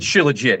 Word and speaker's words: Shilajit: I pronounce it Shilajit. It just rolls off my tongue like that.